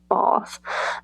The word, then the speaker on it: Bath: But, you know, there's places like I went to Bath, which is how they pronounce it. Bath.